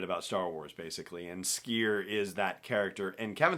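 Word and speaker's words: Sskeer: And he also talked about Skier, I should say, and give it the double S pronunciation it deserves, the Trandoshan Jedi Master,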